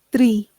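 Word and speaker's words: tree: i suo se le cómo pronunciaríamos la doble e pronunciaríamos como i tre. Entonces árbol se traduce tri.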